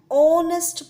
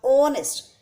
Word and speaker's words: honest: are speaking the word honest the first sound which is coming from our throat is o o is the o is the sound of a vowel and not the consonant here h is silent similarly in n r